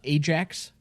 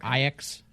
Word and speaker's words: Ajax: Tottenham beating uh Ajax or IX depending on how you pronounce it uh in the